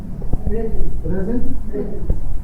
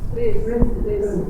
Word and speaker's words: present: You know that when I say this word, I put the pronounce it present. When I say it in another way, present. So when I say that present, this is a present for you. It's a noun.